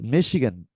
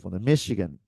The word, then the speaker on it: Michigan: Maryland Massachusetts Massachusetts right Boston Michigan this is Michigan not not Michigan not Michigan listen repeat Michigan Michigan Minnesota Minnesota is the American pronunciation this is is Minnesota very very